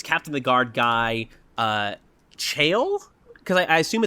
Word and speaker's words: Chaol: there's like this Captain of the Guard guy Chaol? Cuz I I assume it's like the old English spelling of jail. In the audio book they pronounce it Chaol.